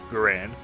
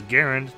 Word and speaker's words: Garand: late 1950s although the name garand is frequently pronounced garand the way I'm saying it the preferred pronunciation is garand to write with arond according to experts and